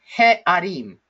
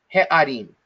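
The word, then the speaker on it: הֶעָרִים: And the way that we pronounce this, or the way that we read this, is he'arim, he'arim, okay?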